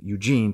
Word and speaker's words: Eugen: In the German club, German class, he was called by the German version of his name, Eugene, pronounced Eugen. Walter began to refer to